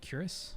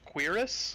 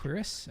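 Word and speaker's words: cuirass: heavy bronze curus we good is that you pronounce that curus I've never I don't think I've ever heard that word pronounced I'm sad to tell you that it is actually pronounced Cirus cerus okay I've I've said it in my head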